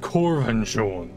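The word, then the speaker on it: Korvanjund: place of King borgus corvan Jun if the crown exists it will be there my bad so that is how it's pronounced corvan you anticipate Danger I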